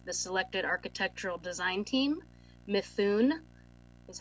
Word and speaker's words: Mithun: services agreement with the selected architectural design team, Mithun, is how you pronounce it, in an amount of $130,000 to